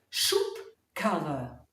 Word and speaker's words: Schubkarre: Schaut mal, was sich in der Aussprache wie ein P anhört. Schubkarre.